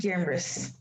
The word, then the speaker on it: genre: post rock metal and classical and other music genres okay generous or exactly you always pre it's even though it's spelled with an e you pronounce it like